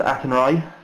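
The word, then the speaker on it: Athenry: think you'd call it a henry uh it's pronounced aton rye uh it's not that song about the fields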